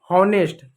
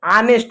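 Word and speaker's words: honest: होनेस्ट गलत होता है। होनेस्ट नहीं ऑनेस्ट होता है। एच साइलेंट होता है।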